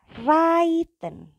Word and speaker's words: reiten: Yang ketiga adalah reiten. Artinya berkuda. Bacanya bukan reiten melainkan reiten.